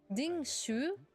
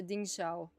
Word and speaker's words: Dingshu: Dingshu. Okay. Dingshu. I was I was pronouncing this the Dingsha Dingsh.